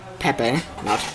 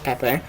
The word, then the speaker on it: Pepe: ways of the camp taking care of babies pepe pronounced pepe pepe and lupe learning simple jobs like sweeping and